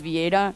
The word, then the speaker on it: Vieira: is my next my last name is pronounced as vieta it's very confusing uh